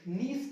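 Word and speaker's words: niece: इसका हो जाएगा निस का मतलब होता है भतीजी या भांजी इसको नाइस नहीं पढ़ते नाइस की स्पेलिंग निक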